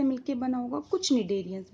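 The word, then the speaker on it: Cnidaria: बोल सकते हैं, फाइलम निडेरिया बोल सकते हैं। सी साइलेंट रहेगा यहाँ पे, ठीक है, क्योंकि इनके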